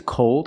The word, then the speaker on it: cold: The first word is called, it's open, and the second word is cold.